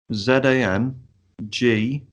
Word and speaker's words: Zangief: I'll get the name up and I'll try and pronounce it. It's there, mate. Zangief.